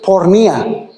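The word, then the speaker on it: πορνεία: en este versículo hermanos se describe en el griego dice Bueno se dice pornía de la cual se deriva la palabra pornografía sí saque fornicación no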